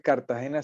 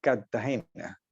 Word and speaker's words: Cartagena: entonces un cartagenero típico no dice Cartagena sino Cartagena como si fuera con doble t Cartagena y y pronuncia muchas palabras así